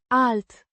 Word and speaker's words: alt: Alt. Like the alt, in, alter, it modifies, playlist.